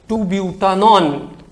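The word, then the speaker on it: 2-butanone: 2-ब्यूटानॉन। ब्यूटेन 2 ऑन भी कह सकते हैं, but this is the most appropriate pronunciation, 2-ब्यूटानॉन।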